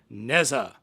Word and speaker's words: Nezha: That is, today we are taking a look at Transformers Cyberverse Nezha. I think that's the correct pronunciation. I did look this up beforehand, and the website pronunciation said Nezha, no pronounced H.